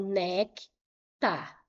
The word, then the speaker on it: néctar: Então, nectar. Qual é a sílaba tônica?